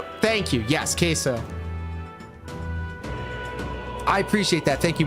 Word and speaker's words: queso: bro this is awesome you pronounce it like the sauce queso okay thank you yes queso I appreciate that thank